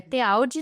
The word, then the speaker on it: Tealdi: Meus 2 sobrenomes são de origem italiana, então é Tealdi normal, como se escreve.